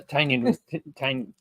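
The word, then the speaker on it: Tynion: it doesn't t t it rhymes with onion which is I get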